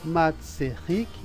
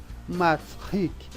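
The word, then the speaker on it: מצחיק: Em vez de ser Matzerik, é Matzrik.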